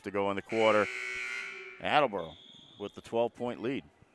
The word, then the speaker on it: Attleboro: go in the quarter attleborough with the 12-point lead or as they say in attleboro attabura you don't work you don't work in the city for 41 years without knowing how to pronounce it here comes smith on